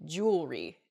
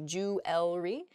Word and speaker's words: jewelry: Where the word kind of gets a little bit smushed together and we say jewelry instead. We miss that second E sound in there. It should be jewelry.